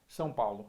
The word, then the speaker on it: São Paulo: Today I have the honor of playing against Marco from, how do you pronounce Sao Paulo? São Paulo.